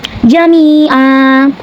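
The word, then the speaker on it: جَمِيعًا: Ketika berhenti di sini, hukumnya adalah mati waw, sebab ada harokat tanwin fathah yang kita berhentikan atau kita wakafkan, dan cara bacanya panjangnya itu 2 harokat, seperti jami'a.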